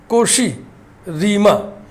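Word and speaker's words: Cauchy-Riemann: कोशी-रीमा, N silent रहेगा।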